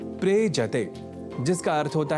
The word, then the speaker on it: प्रेजते: दोनों के मेल से शब्द बनता है प्रेजते। प्रयजते नहीं। ऐसे ही एक और धातु या क्रिया का शब्द है प्रेजति जिसका अर्थ होता है कांपता है।